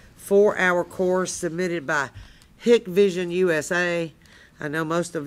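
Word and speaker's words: Hikvision: he's now selling for hick vision like like take a hike in night vision i'm just looking at the way it's spelled i know that's what i want to say too but it's it depends on whether you're whether you're hick or whether you're a hiker well i'm a hick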